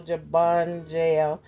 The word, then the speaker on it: Jabungel: So I said slow, Jabungel. So you will understand how the word is pronounced.